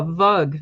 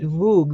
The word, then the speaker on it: vug: Miners and it was they pronounced it vog v o o g so I suppose you could say vug or vog but it's then that